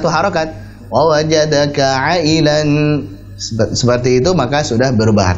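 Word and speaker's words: عائلا: asalnya adalah wa wajadaka 'ailan fa'aghna. Ailan itu harusnya dibaca sebagai mad wajib muttasil 4 harakat.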